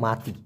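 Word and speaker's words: mati: মরা মাতি মানেও মরা এম এ টি আই উচ্চারণটা হবে মাতি এই মাতি মানে হলো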